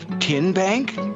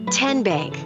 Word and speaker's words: TN Bank: you enroll wildcats role how do you say the name tn bank nope tin bank uh-uh so what is it ten bank ten as in tennessee right here where all